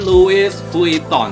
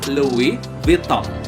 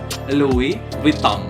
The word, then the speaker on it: Louis Vuitton: ini well gold nafasnya bukan Louis Vuitton ya tapi Luwih BeeTalk Luwih without ini nih yang bener ya Oke terima agak aneh